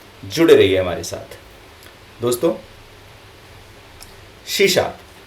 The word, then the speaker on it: C#: कुछ लोग सी हैश भी बोलते हैं। मेरे हिसाब से कुछ फर्क तो नहीं पड़ता, लेकिन एक्चुअल जो इसका प्रोनाउंसिएशन है, जो बोला जाता है, वो सी शार्प ही है।